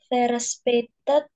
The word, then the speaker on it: verspätet: Ini hati-hati, itu A umlaut. Bacanya gimana? Verspätet Richtig.